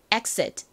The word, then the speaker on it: exit: exit. 한 번 더 해볼까요? exit. 좋습니다. 강세가 단어의 앞쪽에 있어요. 그래서 exit이 아니라 exit. exit. 이렇게 앞부분에 힘을 빡 주셔야 됩니다.